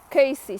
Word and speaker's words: Cayce: and that was Edgar Casey some people pronounce his name case I will say Casey I hope that's correct anyway uh I'm not